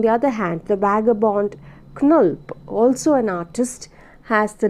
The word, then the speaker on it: Knulp: Rochalde in 1914, and Knulp just to be pronounced Knulp, Knulp, these are two novels which represent the opposite poles of tension he experienced during these days.